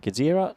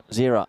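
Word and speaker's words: Gżira: Gazira United? Well, I'll figure it out. Zira United. So I guess the G is silent as I'm being whispered to from my co-commentator, Nish.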